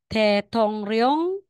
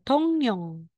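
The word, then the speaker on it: 종로: rosu magiging um yosu tong rong magiging tong niong Okay another po the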